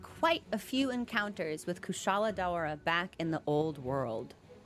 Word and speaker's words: Kushala Daora: I actually said it right! There was a hot second where I was positive the game was gonna say Daura.